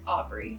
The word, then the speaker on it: ABRY: is when I like officially founded ABRY, or ABRY, that's how you pronounce it.